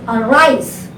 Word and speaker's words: arise: Now arise, a is a prefix for the verb rise. So after the prefix you have to put the stress, arise.